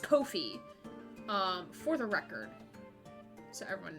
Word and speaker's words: Ko-fi: It's apparently pronounced Ko-fi, for the record.